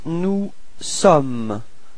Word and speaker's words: sommes: Then for nous, you've got nous sommes. Okay, final S is not pronounced. Nous sommes. Repeat. Nous sommes.